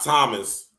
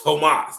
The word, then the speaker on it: Tomas: Not Thomas. Understand that when Thomas or I'm going just say Thomas for American sake, right? When it's spelled like this, it's not Thomas, it's Tomas. Let's just be clear with that. This is Spanish, right?